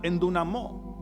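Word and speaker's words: ἐνδυναμόω: Esa palabra fortaleceos o fortalecernos es una palabra que en el griego se pronuncia endunamó, y viene de dos palabras, de dos raíces.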